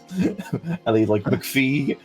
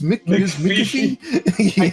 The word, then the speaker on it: McAfee: I was also entertained because half the call couldn't pronounce McAfee properly because you had McPhee and just wait, it was McAfee.